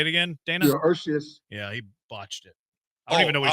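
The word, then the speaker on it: Urías: Urias is how it's pronounced, but not in the lineup today.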